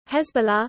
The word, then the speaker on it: Hezbollah: Hezbollah, pronounced Arabic Hesbu la, literally Party of Allah or